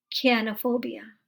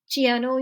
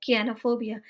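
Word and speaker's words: chionophobia: So fear of snow, कियानोफोबिया। इसे आप चियानो या शियानो नहीं पढ़िएगा, ये है कियानोफोबिया।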